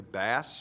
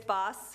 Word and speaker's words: Boss: little bit about and I think I'm pronouncing this correctly bass it's boss he's 10 year old